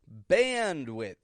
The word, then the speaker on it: bandwidth: looked at the word bandwidth bandwidth and how you stretch that out bandwidth stretching out that modified short a episode 60 something or